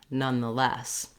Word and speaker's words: nonetheless: stress we might be slightly longer on the none than on the schwa for the word the nonetheless the same patterning that helped you for nevertheless can help you here start with the stressed syllable less the less nonetheless so you get that rhythm of quick quick long in these words once